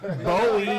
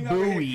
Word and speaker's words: Bowie: And it's Bowie, not Bowie. Right. I can't say. Because do you say David Hold on. Bowie?